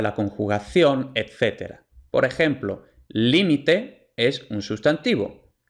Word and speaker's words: límite: entonces aquí por ejemplo en límite la sílaba tónica es la primera Li y además según las